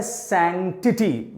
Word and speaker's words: sanctity: Sacred, और दूसरा word है सैंक्टिटी। ध्यान से देखिएगा इसकी स्पेलिंग, SANCTITY, सैंक, SANC एक साथ बोला तो बना सैंक, एंड TITY, सैंक्टिटी।